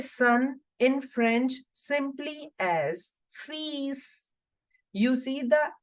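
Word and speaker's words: fils: in French simply as fees you see the L here is for decoration okay you don't have to make any sound of this L this is just for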